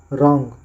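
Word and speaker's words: wrong: आर ओ एन जी रंग ए एन एस डब्लू ई our answer यहां पे डब्लू को साइलेंट रखा गया है नेक्स्ट है नेक्स्ट है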